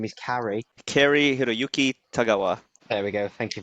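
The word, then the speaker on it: Cary-Hiroyuki Tagawa: Please pronounce his name. I know his first He name is Carrie. Kari Hiroyuki Tagawa.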